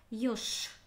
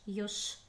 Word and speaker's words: ёж: Ёж. Написана буква Ж, а звучит как Ш. Ёж.